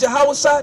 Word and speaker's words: Yahweh: You know his real name was Yahweh. That's how you say it in our original language before we was force-fed English.